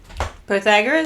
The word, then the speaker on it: Pythagoras: Pythagoras?